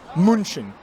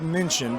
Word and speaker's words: München: Munchen. Because I almost said München, but that wouldn't have been right.